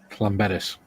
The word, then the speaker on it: Llanberis: Athol says, as part of the climbing team, we used to drive across England from RAF Watersham to, how do you pronounce that, Mikey? Llanberis.